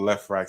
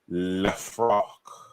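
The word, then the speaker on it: Lefrak: They oh no, it's pronounced by the real name Lefroc.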